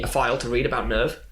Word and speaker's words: NERV: Misato gives Shinji a file to read about Nerve. It's called like Welcome to Nerve or something like that. Which looks just like a brochure, kind of, hey, welcome to Nerve. But Nerve is spelled Nerv.